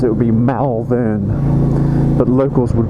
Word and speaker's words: Malvern: to Wales, and we're entering a town called Malvern. It's actually spelt for Americans out there, and I know some of my audience are American. If you were to say it how it's spelt, it would be Malvern, but locals would pronounce it as Malvern.